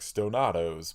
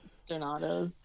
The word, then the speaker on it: Stonados: I keep wanting to pronounce it like Tostados and do like Stonados, but that's not correct. I love that. Stonados.